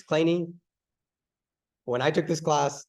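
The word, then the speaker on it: Kleene: after Steven clany so notice the way I'm pronouncing it it's not clean it's clany when I took this class the professor pronounced it clean and so I'd been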